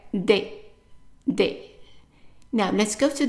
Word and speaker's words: des: And every time you have ES attached to only one letter, it's pronounced as a short A. So what I mean by that is like if you have a word that has only 3 letters, one consonant and then ES. So the ES would be pronounced as a short A, and it's not A, it's just A.